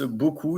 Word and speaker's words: beaucoup: But in that case, it's beaucoup. It's B-E-A-U, and then C-O-U-P, because it's C-O-U-P, C-O-U-P, U-P, U-P.